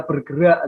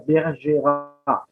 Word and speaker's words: Bergerac: Lalu ada Cyrano de Bergerac. Ini beda lagi ya. Cyrano de Bergerac itu C-nya tidak dibaca ya, tidak dibaca bergerak tidak ya, Bergerac. C tidak dibaca.